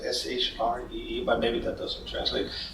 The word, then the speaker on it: Sri: is free like it's his prince is spelled s RI but it smells like Sh re but maybe that doesn't